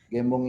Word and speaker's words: Gembong: Ya, nama saya Gembong Primajaya. Gembong ini banyak salah pronounce-kan oleh orang menjadi gembong ya.